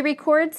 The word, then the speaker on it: record: They look alike, but they do not sound alike. They have different word stress. Listen to a few examples. He records his speeches.